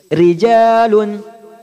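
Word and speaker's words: رجال: Kasroh seperti rijal. Nah, di sini jangan sampai bacanya monyong. Rijal, enggak. Di sini ro-nya kasroh. Bacanya tipis. Rijalun, rijalun.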